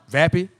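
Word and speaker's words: Vappie: Vapi or Vappy. V A P P I E. Vappy.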